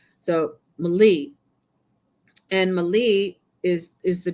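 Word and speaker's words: malis: call it Mali it's m-a-l-i-s but the S is silent because it's like from French so Mali and Mali is is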